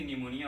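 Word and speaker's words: pneumonia: इसका full form है pleuro, P से निमोनिया होता है, पी साइलेंट होता है, प्ल्यूरो निमोनिया लाइक ऑर्गेनिज्म।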